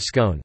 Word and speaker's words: scone: There are two possible pronunciations of the word scone, the first rhymes with gone and the second rhymes with tone.